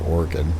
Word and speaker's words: Oregon: It's actually pronounced Oregon.